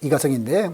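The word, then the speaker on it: 李嘉誠: 그 내용은 뭐냐면은 중국 발음으로는 리자청이라고 나오죠. 그러니까 리자청, 우리나라 발음으로는 이가성인데, 이가성 회장의 운전기사는 30년 동안 이가성 회장의 차를 운전하다가 마침 떠날 때가 됐습니다.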